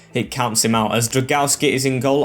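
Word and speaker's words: Drągowski: As Dragowski is in goal, or I've been told to pronounce it Drown-Gowski. I think that's how you do it, Drown-Gowski, so I'll try that.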